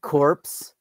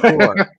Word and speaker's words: corps: Also, it's not corpse. It's poor, okay, the PS is silent, buddy.